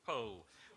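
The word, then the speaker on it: Powell: snobbish uh English novelist Anthony pole pronounced pole VI Violet and I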